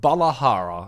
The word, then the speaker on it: Balahara: All right, our first proper look at the monster that is a brand new Leviathan called Balahara, I believe is how you pronounce it.